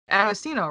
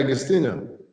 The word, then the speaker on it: Agostinho: I anglicize it, you know. I give people the whitewashed version because it's easier to just say Agostino.